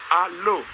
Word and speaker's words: allô: Maintenant, si nous prenons la phonétique ou l'orthophonie, on peut diviser en deux syllabes. Il y a A et l'eau. C'est allô.